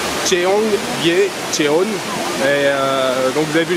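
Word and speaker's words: 청계천: par hasard dessus, ça s'appelle, attention à la prononciation, Cheonggyecheon.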